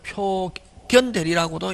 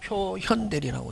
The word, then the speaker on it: 표현대리: 요건 볼견 나타날 현. 그래서 요걸 표견대리라고도 읽었다 옛날에. 근데 요즘은 뭐 표현대리라고 읽는다.